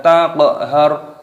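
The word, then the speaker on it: تَقْهَرْ: Fala taqhar, taqhar, qafnya sukun, berharokat sukun, dimatikan di qalqalah. Taq itu namanya qalqalah.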